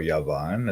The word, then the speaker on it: Javan: and then yavan or Javan the son of jish he said to be the ancestor of the Greeks okay this guy Javan or yavan as we say in Hebrew okay and this guy